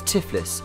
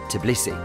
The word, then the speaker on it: Tbilisi: 1500 years for centuries the city was known as tiffles its Persian pronunciation until 1936 when the Soviet leadership officially reverted its name back to the Georgian version Tbilisi neither have had something